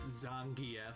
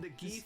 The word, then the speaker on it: Zangief: Well, actually, his name is pronounced Zangf, but I've been calling him the gef since I was 6 years old, and it's really hard to break that habit.